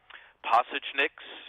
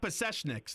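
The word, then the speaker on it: Pasečņiks: of the other guys passage NYX is how you say his last name andris pasta tunics okay so not possession X that Sal OTT of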